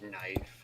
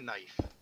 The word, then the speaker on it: knife: know about that but a lot of words that have silent k's like knife and knock the k actually used to be pronounced but people just found